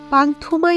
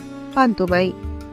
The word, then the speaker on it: পান্তুমাই: উপভোগ করতে পারবেন প্রাণভরে পান্তুমাই সিলেট জেলার পশ্চিম জাফলং ইউনিয়নের একটি গ্রাম যা ভারত সীমান্তের মেঘালয় পাহাড়ের পাদদেশে অবস্থিত পান্তুমাই গ্রামকে যদিও অনেকে পান্থমাই বলে ডাকে কিন্তু এর সঠিক উচ্চারণ পান্তুমাই পাথরের শেষ নেই পাহাড়